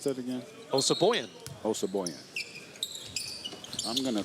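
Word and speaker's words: Osabuohien: Well, how do you pronounce that again? Osaboyan.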